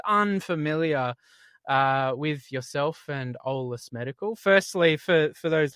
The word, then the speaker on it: Eolas: Yeah, pronounced Olus. So, if you if you imagine just drop the E and then olus, that's the easiest way to think about how to say it.